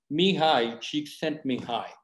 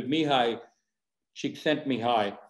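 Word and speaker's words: Mihaly Csikszentmihalyi: psychologist it's a kind of difficult name it's pronounced as mihai she sent me high i forget it so i usually write it so i remember so mihai she sent me high uh and he said it's a mental state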